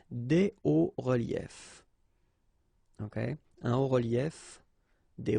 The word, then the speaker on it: des hauts reliefs: then it's quite simple, because S and S, but then we don't pronounce them here. Des hauts reliefs.